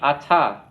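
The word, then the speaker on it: אַתְּ: That's unusual to have a dagesh like that at the end of a word and a shva at the end of the word, but in this pronoun, that's what you have.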